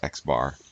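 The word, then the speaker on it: x̄: this symbol right here is the um is pronounced x bar this symbol here is the greek uppercase sigma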